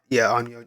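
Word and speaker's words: 陰陽師: Yeah, that is onmyoji. Yeah, okay, yeah, onmyoji. Yeah, that's how you pronounce it.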